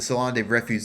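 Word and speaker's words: Salon des Refusés: anymore I've used this so many times the salon refu I learned how to pronounce it correctly so read the whole story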